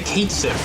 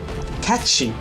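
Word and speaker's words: Cait Sith: Uh there is a Kiff. Oh my god. Katchchi. Katchchi. It's how it's pronounced.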